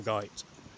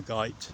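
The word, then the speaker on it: Goyt: woodl Redbury and Rumley before crossing the river Gite it's not a river that's in a g it's the river Gite that's how you pronounced G because prob the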